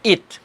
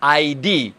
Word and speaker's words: id: Yang pertama namanya id, id tulisannya. Kalau waktu di Amerika tuh kalau anak-anak semester 1 jurusan psikologi, kadang-kadang dia sebut ID, benar nggak? Karena ide ya bacanya ID, padahal bacanya mestinya id, benar nggak?